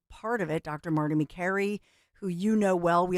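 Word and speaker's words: Makary: um remember everybody was mispronouncing his name like way back in the day and it's McCary rhymes with Mary and we would talk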